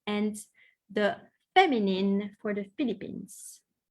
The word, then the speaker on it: Philippine: to say Je suis Philippine. Je suis Philippine. Okay. Je suis Philippine. You have to pronounce the E. You have to pronounce the N and the E, Philippines.